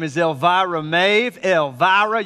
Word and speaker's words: Elvira: my daughter's name is elvira maeve elvira you gotta say it with a southern drawler you're not pronouncing it right el vira everybody say elvira there we go all right